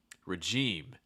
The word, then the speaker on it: regime: th's for once um regime regime against those like first syllable gets reduced with that schwa sound like ra ra and then that second syllable gets that long eye to e sound regime regime one thing you want